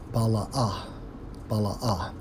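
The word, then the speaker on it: בלא: When we focus on wear out, according to the Hebrew, Strong's H 1080, pronounced as bala'ah, which means what?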